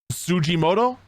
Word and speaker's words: Tsujimoto: Capcom Chief Operating Officer tsujimoto I think that's how it's pronounced t-s-u-j-i-m-o-t-o I'm pretty sure it's